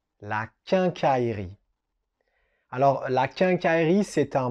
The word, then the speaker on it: quincaillerie: un mot qui est un peu compliqué à prononcer. On continue avec la quincaillerie. La quincaillerie. La quincaillerie.